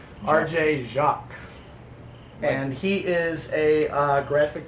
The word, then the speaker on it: Jacques: To my right, William Robert's left, we've got RJ Jacques. No. Is that not pronounced correctly? No. I'm sorry, we discussed the pronunciations of your name. The S is not heard, it's silent. Yes, silent. RJ Jacques.